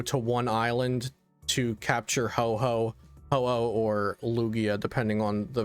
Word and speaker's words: Ho-Oh: one island to capture Ho-Oh or Lugia, depending on the version. Yeah, I got stuck saying Ho-Ho because of Ho-Ho News, the Japanese website I use for deck list. That's how it's spelled.